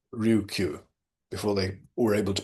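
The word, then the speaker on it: Ryukyu: Appendix four, notes taken during a visit to Okinawa, the island of Okinawa, the Luchu Islands or that's just another way of saying Ryuku before they were able to pronounce it properly.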